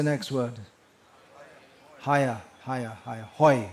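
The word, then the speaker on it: হয়: Hoi. It's pronounced hoi in Bengali.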